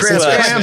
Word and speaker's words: Krampus: Is there the pronunciation thing? It looks like Oh, Krampus. Krampus. It's Krampus.